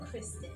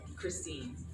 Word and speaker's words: Christine: So do you want me to introduce you as, is it Christine or Kristen? Christine.